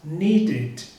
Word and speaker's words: needed: Por exemplo, eu tenho o verbo need, então eu tenho uma sílaba só. No passado ou no particípio, com ed, ele vai ficar needed, needed, como se fosse acrescentado uma outra sílaba, então ele fica com 2 sílabas.